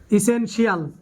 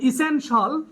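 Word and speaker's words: essential: কি নাই বলো শিয়াল যেটাকে আমরা বলি কমার্শিয়াল ইসেনশিয়াল রেসিডেন্সিয়াল এরকম বলি এই উচ্চারণ গুলো আমরা ভুল উচ্চারণ করি আমরা বলবো এখন থেকে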